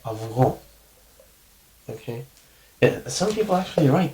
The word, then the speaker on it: αυγό: In this case, I'm going to pronounce this like αυγό, okay?